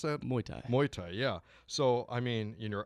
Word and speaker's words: Muay Thai: How do you pronounce that? Muay Thai. Muay Thai, yeah.